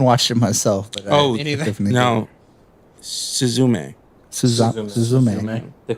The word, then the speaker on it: Suzume: beautifully done unless am I saying it wrong sus me yeah yeah I'm sure right I'm I haven't watched it myself but no suzume Suz the K I speak a Spanish oh